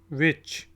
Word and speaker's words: which: फिर है जी विच, WHICH, विच। विच कौन सा को कहते हैं, और इसमें भी H साइलेंट है, दरमियान वाला, विच।